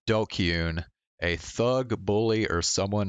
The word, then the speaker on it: DQN: can we okay what is a dqn pronounced dokun a thug bully or